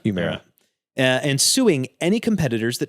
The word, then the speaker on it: Humira: Humira? Humira.